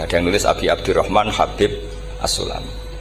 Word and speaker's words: Habib: Ada yang nulis Abi Abdurrahman Habib Asulami. Itu di harakatnya kitab itu ada yang nulis khubab. Yang benar Oh, nggih. Yang benar itu bacanya Habib.